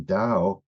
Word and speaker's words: Tao: is very problematic because for some reason Dao they spell with a t and of course if